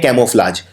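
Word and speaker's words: camouflage: बदलने को बोलते हैं कैमोफ्लाज। तो कैमोफ्लाज में आपको पहले लिखना है कैमो। अब कैमो में एक यू भी आता है, कैमो, ये प्रोनाउंस नहीं होता है लेकिन आता है।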